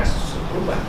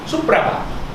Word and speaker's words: Supraba: Kalau ejaan sekarang Simparaba orang baca Sepurba. Bukan Sepurba, Supraba. Kait Hindi, orang baca Kida Hindi.